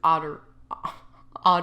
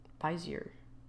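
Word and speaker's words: Bézier: And then once again, we want to change this to otter, did I just say otter? Auto Bezier. That's how you pronounce it. Bezier.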